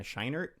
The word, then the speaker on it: Scheinert: it correct earlier yes yes that's how you pronounce that yeah shiner i believe the daniels which uh if you don't know about them they also directed swiss army man from 2016.